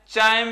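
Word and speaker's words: chyme: चाइम कह दो उसको, किताबों के अंदर उसको कायम भी कह देते हैं। और हम जानते हैं सी का उच्चारण सी, च और क दोनों के लिए किया जाता है।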